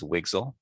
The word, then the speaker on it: WGSL: a new shading language wgsl which we pronounce as wigsl it's designed for for